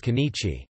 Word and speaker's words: 今日: In formal writing this will generally be read as kanichi.